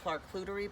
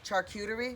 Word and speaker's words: charcuterie: order this thing called like a clark clootery board or something like that oh charcuterie charcuterie yes okay charcuterie so charcoal cutie charcuterie board yeah i can